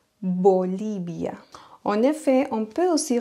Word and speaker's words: Bolivia: trop accentué vocabulio et un autre mot ce serait Bolivia bolibia en effet on peut